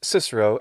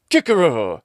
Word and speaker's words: Cicero: comments something like this if you really wanted to use the classical pronunciation you would say kikero and kaisa this drives me a little